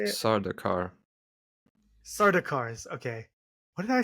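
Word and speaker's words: Sardaukar: I don't remember how you say the name SED darkens is how you say it Sardar sardars okay what I say anyway um but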